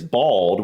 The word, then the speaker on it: bald: o yeah bold and how we say it is bald which sounds sounds it's like ball like a basketball a soccer ball a football and bald so I don't quite